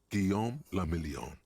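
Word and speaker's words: Guillaume le Million: Guillaume la Million. Dalej nie rozumiem, co to jest If it Guillaume. doesn't rhyme, you're not pronouncing it right.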